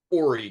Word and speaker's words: Horry: And I learned that it's Ori Georgetown. Horry George. You don't pronounce the H.